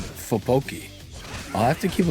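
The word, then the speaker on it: 떡볶이: Tteokbokki. What does she think of that? How about the white boy pronunciation?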